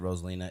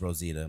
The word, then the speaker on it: Rosita: But basically, to sum it up, they said that the performer portraying, and actually I said her name wrong. I said Rosalina. It's Rosita.